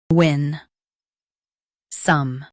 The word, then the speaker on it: winsome: win some winsome Stress win and keep some soft.